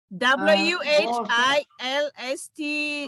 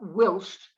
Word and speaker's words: whilst: the sd this one w h i l s t and that's why the g is it's not wilst it's whilst whilst at the same time